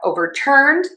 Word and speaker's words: overturned: And we stress syllable or word to in verbs typically. That's a general American English rule that does work most of the time. So, we have overturned, overturned, overturned, is overturned.